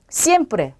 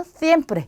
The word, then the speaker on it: siempre: 에세입니다. 에세. 자, 근데 이 에세도 쌍시옷으로 발음하는 게 맞지만, 자, 일부 지역이나 스페인에서는 쓰 발음이 나요. 그래서 th 발음이 난다라고 생각하시면 돼요. 자, 그러면 얘는 sombrero 또는 sombrero 이렇게 발음하는 경우도 있고요. 얘는 sábado 또는 sábado. 얘는 siempre 또는 siempre 이렇게 되겠죠. 자, 이 솜브레로는 모자란 뜻입니다.